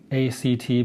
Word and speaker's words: ACT: Rob Radel and I'm here to tell you about acceptance and commitment therapy which is spelled a CT but always pronounced as a word act act has been around